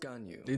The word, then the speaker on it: Ganyu: High Pavilion secretary the half Chilean illuminated Beast gun you that's how you say it most crucial matters